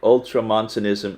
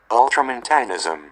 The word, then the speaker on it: Ultramontanism: Anyway, Ultramontanism is a clerical political conception within the Roman Catholic Church that places strong emphasis on the prerogatives and powers of the Pope.